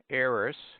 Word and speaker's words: heiress: d pronounced as J omit the H in air heiress herb honest honor Osler